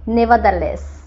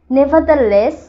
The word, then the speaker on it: nevertheless: নেভারদারলেস, এই শব্দটার উচ্চারণ হবে নেভারদারলেস, নেভারদারলেস এর অর্থ বোঝায় যাই হোক বা তথাপি সত্ত্বেও।